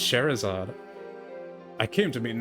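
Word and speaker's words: Scherazard: So I think it's pronounced sherzard.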